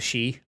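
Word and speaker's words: sidhe: uh god i'm treating the proper uh irish pronunciation uh but uh the she oh s-i-d-h-e yes oh good great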